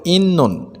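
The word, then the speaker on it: 있는: থাউম পরবর্তী, দানো শব্দ ওয়া সাথে, পরবর্তী শব্দের সাথে খোয়ানগে সম্পর্ক ইন্নুন আছে, তবাচ্ছিমের পরে ন থাকলে তটা ন হয়, এজন্য এটা সঠিক উচ্চারণ হবে ইন্নুন।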